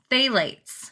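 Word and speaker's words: phthalates: on human health when used in cosmetics okay phalates and that's spelled p h t h a l a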